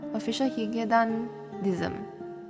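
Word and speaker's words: Official Hige Dandism: Yeah, this artist, how do I even pronounce this artist's name? Official Higedan? Official Higedanism.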